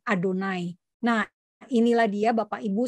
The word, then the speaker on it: Adonai: Yang dibacanya tulisannya YHWH, tetapi orang Yahudi tidak akan membaca YHWH karena mereka tidak boleh mengucapkan nama kudus, sehingga diganti pengucapannya menjadi Adonai.